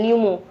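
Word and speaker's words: pneumothorax: भर जाना ठीक है पी नहीं पनम नहीं पी साइलेंट होता है न्यूमो ठीक है न्यूमो थायरॉक्स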